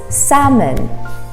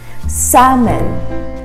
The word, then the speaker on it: salmon: don't say salmon it's salmon salmon the l is silent salmon our next word is